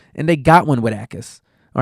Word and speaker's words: Jacas: Jacas is how it's pronounced.